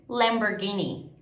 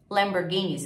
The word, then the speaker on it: Lamborghini: porta né então é Fury Lamborghini e inglês Lamborghini Lamborghini ele tem Ele dirige um Lamborghini Ok Lamborghini